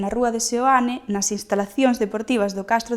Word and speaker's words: Seoane: co nome da vila, chamada Seoane (pronunciada Soane pola maioría dos veciños), que vén do sintagma latino SANCTU IOHANNE, en referencia a san Xoán o Bautista.